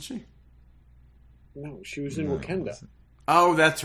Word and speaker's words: Wakanda: It's pronounced Wakanda, I believe, not Wakanda. I can say whatever I want. You can call it whatever you want. Okay, but I believe the rest of the world pronounces it Wakanda.